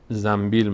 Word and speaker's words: زنبیل: نمیگیم انبر انبر میگیم نون به وقتی پشت سرم بیاد میم تلفظ میشه عین همین قاعده در